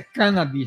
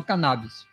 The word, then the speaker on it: cannabis: Por ser derivado de uma planta, a cannabis sativa, observem que a pronúncia é cannabis, não cannabis, e não causar a